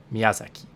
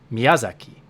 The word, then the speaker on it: Miyazaki: The proper Japanese way to say it is Miyazaki. And there's very little emphasis on the accent in the word. But if you pretend to say it like it's English, Miyazaki, and you really put stress on the ya, then there is no